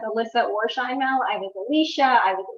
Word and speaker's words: Sheinmel: Yes, it's Sheinmel. Okay, thank you.